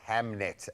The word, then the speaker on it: Hamnet: Oh, Hamnet. Yes, you are saying it right.